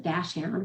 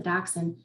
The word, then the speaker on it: dachshund: especially the breed dachshund some people are going to pronounce it dash hound which makes more sense with the title bash down through the snow but we've always pronounced the dachshund i've got one outside